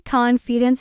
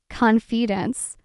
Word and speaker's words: confidence: Say confidence, stress on con. Repeat it 3 times slowly. Confidence, confidence, confidence.